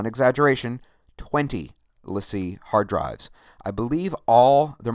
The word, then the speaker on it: LaCie: And some people pronounce it Lacey, but it's LaCie.